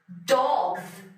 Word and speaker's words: dogs: dogs z가 아주 부드럽게 이어지는 것 뿐이에요. 그래서 이거 조금 이제 줄 끌면 dogs 이렇게 약간 그즈같이 들리는데 그렇다고 더 그즈 이러지는 마세요. 그하고 붙이지는 마시라는 얘기예요.